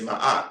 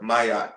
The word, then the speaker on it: Maat: The other divinity who represents an aspect of Atum who is not depicted here is Maat or Mayat depending on how you've heard it or how you read it.